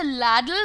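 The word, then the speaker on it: ladle: This is called a लैडल but with a single D. लैडल में double D लगाने की आवश्यकता नहीं है, स्पेलिंग पर भी काम करिए भाई लोग।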